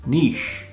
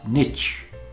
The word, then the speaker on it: niche: niche, sometimes pronounced niche, but it's niche.